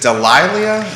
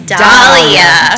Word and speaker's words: Dahlia: Is it Is it Delilah? It's Dahlia. Dahlia.